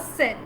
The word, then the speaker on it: cell: Okay, so the word cell, they are 2 words having different meanings, different spellings, but they are pronounced in the same way.